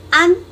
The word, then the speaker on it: ăn: Chào các em, hôm nay mình học chữ ăn. Ăn. Các em biết ăn là gì không? Ăn là eat. Eat in Vietnamese is ăn. Now how do you pronounce it?